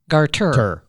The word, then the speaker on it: garter: gardener it's not gardener it's not gardener so Tonya the snake that almost killed you apparently is a Garth garter garter god I've never known that got it I've always said it wrong this is and nobody's